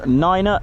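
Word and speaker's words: niner: of five and also number nine is pronounced ner to not get confused with the German for nine which is no I think that's all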